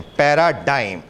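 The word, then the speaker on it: paradigm: लिखते DIGM है, pronoun DYME करते हैं, पैराडाइम, प्रोटोटाइप.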